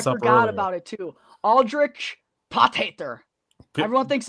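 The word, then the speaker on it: Potgieter: It is Pothater, I believe. Like, you say it like an angry German. Pothater.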